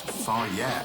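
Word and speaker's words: Fage: It's pronounced Fire.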